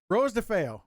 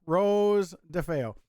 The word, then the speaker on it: Rose DeFeo: of us i've got rosie excuse me rose ah i butchered that all the time uh rose defeo rose defeo uh she's gonna be